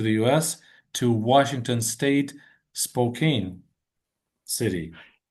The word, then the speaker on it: Spokane: And I don't Yeah, it's Yeah, the Yeah, the spelling and the pronunciation are misleading.